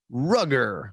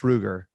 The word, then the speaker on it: Ruger: we get a nosler rugger wait that's ruger you know you have